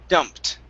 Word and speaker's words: dumped: instead of dumped okay Ed sounds like a t dumped dumped there you go